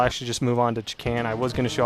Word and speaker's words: Chakan: it, I might add, it's pronounced Chakan. But I've heard most of the people I've met that actually know of that game pronounce it as Chakan, which makes some sense because K-A-N, Khan.